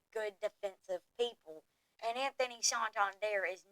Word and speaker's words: Santander: next person is Anthony Sant his name is not Santander so don't even say it like that ESPN has him going